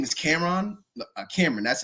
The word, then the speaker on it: Kameron: Cameron, that's how you pronounce his name.